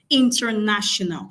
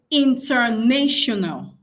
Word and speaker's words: international: Most of us know this word, international. Now, I want to quickly point something out. Let me see if I can transcribe this real quick. Some people say international.